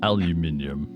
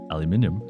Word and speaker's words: aluminium: It's aluminum. I can see why Americans like to say aluminum though, cuz it's faster to say. Alum no, four syllables. Aluminium. Aluminium. It's five.